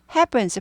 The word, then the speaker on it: happen: happen happen 이렇게 되죠 해 하지 않고 발음이 해 발음이납니다 즉 경음화 된다 그러는데요 경험하라 단어를 모르시더라도 된 소리화 된다라고 생각하시면 돼요 보다 해이 훨씬 더 좋은 발음이다 거예요 해 해 이라기보다 happen happen은 이쁜이 할 때 쁜 하고 똑같다고 생각하시면 돼요 쁜 쁜 펜이에요 happen